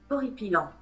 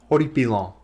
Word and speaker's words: Horripilant: I need to make sure I'm pronouncing this right. Horripilant. Horripilant. Horripilant. Horripilant. All right. All right. I mispronounced it. I uh I suppose that makes the joke even funnier in a way cuz I was still mispronouncing it even after all that time of writing the joke and thinking I was spelling it right. But uh here's how you pronounce it.